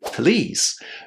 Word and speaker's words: please: In fact, if you listen to how native speakers say please, you will notice that many of them don't put any vowels between p and l.